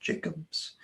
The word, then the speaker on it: Jackobs: Jacobs t-o-m-j-a-c-k-o-b-s looks like Jacobs but it's pronounced Jacobs and then the name of the business is